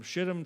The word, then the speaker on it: Shittim: was reading it said, "Is that pronounced how I think it's pronounced?" And I went, "That's exactly how it's pronounced. Yep, from Shittim to Gilgal."